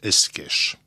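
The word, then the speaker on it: Escaich: C'est un nom d'origine ariégeoise et qui s'écrit E-S-C-A-I-C-H, et ça se prononce Esquèche.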